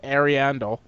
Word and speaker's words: Ariandel: Dark Souls 3 Ashes of Ariandel. Is that correct? Is that right pronunciation?